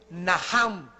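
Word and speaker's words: נחם: La primera palabra que se usó en el Antiguo Testamento es naham. En el hebreo que se escribe nach. La ch en el hebreo se pronuncia como J.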